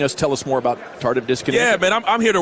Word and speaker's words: tardive dyskinesia: us to talk about TD, not touchdowns, but tardive dyskinesia.